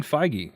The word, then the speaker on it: Feige: determined and that's a Kevin how do you pronounce his name I was looking up JD Dillard Uh Kevin feige feige okay so Kevin feige is also getting